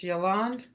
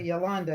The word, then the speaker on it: Yoland: It's Yoland without the E. Yoland. Yolanda. Yoland. Yes. Yoland. Because I when I see you, I'll be wanting to call say Yolanda.